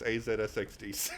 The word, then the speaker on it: AZSXDC: It reads AZSXDC. And that's how it's pronounced, and that's how it's spelled. And they're just like, why is it AZSXDC? And it's just like, it's a zigzag on the keyboard.